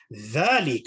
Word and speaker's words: ذلك: Dhalika, as we can see here, with the dhal, so again, reinforcing the correct pronunciation of dhal, dhalika, it is again also an indicative noun.